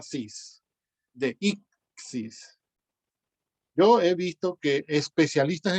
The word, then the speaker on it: deíxis: Deixis debería escribirse con acento en la primera I, ¿no? Porque así es como estamos pronunciando, deixis.